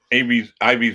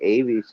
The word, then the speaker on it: Ivy's World: Ivy's World. I think that's how you say it. Ivy's. Yeah, I say Avies. I don't know. I do too. I call it Avy's World, but it's Ivy.